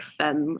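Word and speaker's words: Phemme: this is them but it's spelled p h e m m e like femme a for a friend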